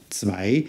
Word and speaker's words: Zwei: Zwei. Here we've got the same sound again, A, but we've got the all-important S sound at the beginning, followed by the V sound of the W.